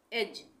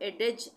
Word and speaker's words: edge: एज, एज पढ़ेंगे, डी का उच्चारण नहीं होगा। अगर हम एडेज इस तरह से नहीं पढ़ेंगे, इसको हम पढ़ेंगे एज।